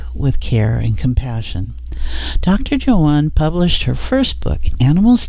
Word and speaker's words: Joanne: Joanne, did I say that right? That French pronunciation?